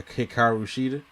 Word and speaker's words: Hikaru Shida: I think her next opponent will probably be Serena Deeb after she's done with her Hikaru Shida. Did I say it right? Pretty much. Hikaru Shida.